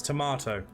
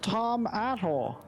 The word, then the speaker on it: tomato: It's tomato. Tomatoes? On my travels, guys, I have heard it pronounced both Tom Ato and Tom Atto.